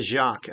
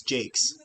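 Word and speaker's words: Jaques: Sorry, I said Jacques. I guess it's Jake. Sorry. Because usually that's French. So, usually it's Jacques, but it's Jake.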